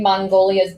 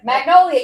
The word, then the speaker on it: Magnolia: That to me, like it's screaming Mongolia's Bakery, here in New York.